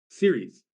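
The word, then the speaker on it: Ceres: on Caris in space Series so it's c r s is pronounced series like television series oh okay so that's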